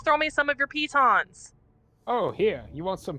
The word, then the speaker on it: piton: me some of your pitons oh here you want some pittance it is pronounced piton everyone says it wrong i think it's python or pittance it is piton please check the dictionary